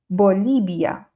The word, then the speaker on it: Bolivia: Donc vous voyez que je ferme quand même mes lèvres même si j'appuie moins fort. Bolivia. Bolivia. Donc à chaque fois les lèvres elles vont se toucher. Donc il ne faut pas que le B et le V bloque.